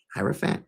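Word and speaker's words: Hierophant: So, I should probably hierofant.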